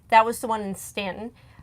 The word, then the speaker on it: Staunton: I mean, that was the one in Stanton. I mispronounced it the first time we went through there. It's well, it's easy to do because exactly. You see that AU, you're like, okay, Staunton.